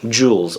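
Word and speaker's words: Jules: but very very sexy jewels or jewels from the House of Dior I should say jewel I think the S is silent at the end this next one is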